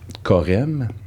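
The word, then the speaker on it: chorème: Là, jusqu'à temps qu'on trouve le mot Corem, qui s'écrit C-H-O-R-E-M-E. Puis c'est Roger Brunet, qui est un géographe.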